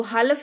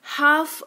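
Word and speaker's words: half: हैं यानी कि शांति इसको हलफ नहीं हाफ पढ़ते हैं इसका मतलब होता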